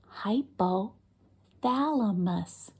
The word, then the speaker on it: hypothalamus: one more time hypothalamus that was five whole syllables hypothalamus wow big word